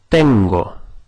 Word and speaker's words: tengo: Now the word for I have is tengo.